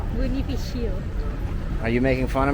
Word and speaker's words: Bonifacio: How do you say it? Bonifacio.